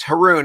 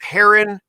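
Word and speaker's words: Haroun: your last name correctly correct haroon it rhymes with baboon yeah some people call it heron heroine haroon is perfect thank you okay i'll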